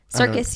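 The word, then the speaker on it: Serkis: it definitely was exactly and I love Andy circus I uh um circus circus you said it right yeah I love him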